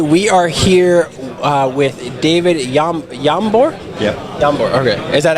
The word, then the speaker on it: Jambor: Hey, we are here with David Jambor? Yeah. Jambor, okay. Is that actually how you pronounce it? Jambor, yes.